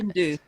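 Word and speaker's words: sgian-dubh: And how's that pronounced? The do that's not... Segan do.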